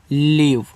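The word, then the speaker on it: leave: वी से आपका वा, ई का उच्चारण नहीं करोगे तो हो जाएगा आपका लीव, और लीव का मतलब होता है छुट्टी।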